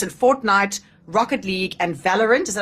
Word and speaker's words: Valorant: esports, so tournaments in Fortnite, Rocket League, and Valorant.